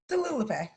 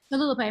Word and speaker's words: Talulupe: Am I pronounced? It's Talulupe? Talulupe. Talulupe. My bad. I'm sorry. I mispronounced your name.